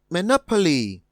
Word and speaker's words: monopoly: a word such as monopoly we would split the word into me li from my experience of what we've just done no comes out louder and requires more energy than me and so our answer